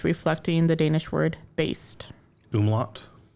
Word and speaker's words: umlaut: originally spelled with the amulet, reflecting the Danish word Baest. Umlaut? Oh, is that how you say that? Not amulet? I think umlaut is the word you're thinking of.